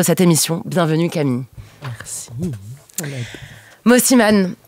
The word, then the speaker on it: Mosimann: Mosiman. Est-ce que je prononce bien d'ailleurs Mosiman ou Mosiman ? Très très bien, et comme tu le sens.